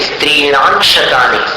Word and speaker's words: स्त्रीणां शतानि: स्त्रीणाम आंशिक जैसे उच्चारण करते हैं वैसे स्त्रीणांशतानि, आंशतानि अंश जैसा उच्चारण।